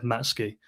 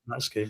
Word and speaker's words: Matsuki: We asked them, "How do you pronounce his name?" They said, "Matsuki." It's 100% Matsuki, all right?